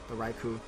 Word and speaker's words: Raikou: I can't pronounce that thing to save my life. It's Raikou.